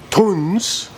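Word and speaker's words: Tunze: So I'm going to go see, I've been calling it Tunzi my whole life. It's actually pronounced Tunz.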